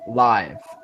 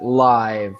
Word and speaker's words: live: So I was happy to see them live. Yeah. And remember, we need to pronounce it live, not live. This is live music.